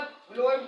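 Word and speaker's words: phloem: कंप्लस को कहते हैं एक का नाम है फ्लोम tissue फ्लोम फ्लोम spelling ध्यान दीजिए पी एच एल ओ ई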